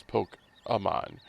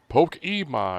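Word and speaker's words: Pokémon: It's like, for example, like Pokemon, it's Poke-amon. But I remember seeing like commercials where it naturally be like Poke-emon, and it's like, no, the E is silent. It's Poke-a.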